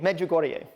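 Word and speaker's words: Medjugorje: religious sites, Catholic sites uh like here in Meogorgia. Did I I I don't know if I did I I suddenly get it right. I can never pronounce that word correctly. Help me. Me Goreier. Meugorier.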